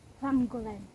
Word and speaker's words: Llangollen: How do you pronounce that? Huanggolan.